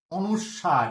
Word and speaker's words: অনুস্বার: এটা, এটাকে বলা হচ্ছে কিন্তু অনুস্বার, এর উচ্চারণটা কি, অনুস্বার, অ দন্ত নয় হস্যু, দন্ত শয়ে বয়ে আকার, বয় বিন্দু র, এর উচ্চারণটা কিন্তু অনুস্বার।